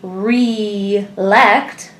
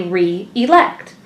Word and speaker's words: re-elect: We wouldn't say re-lect, we would say re-elect. So adding the hyphen ensures we are properly pronouncing the word.